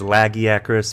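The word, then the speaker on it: Lagiacrus: number seven legaya Chris yes I know the common pronunciation is lagiacorous but the first time I ever saw this leviathan's name I read it as legi Chris and I think my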